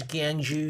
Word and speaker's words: Gyeongju: He learned how to pronounce Gyeongju. That's right. It's Gyeongju. Gyeongju.